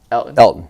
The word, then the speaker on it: Elgton: Elgton Jenkins. Yeah, just the G is silent.